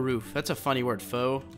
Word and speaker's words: faux: that's a funny word faux it's like fall p f a u x fo uh why it's spelled like that not really sure you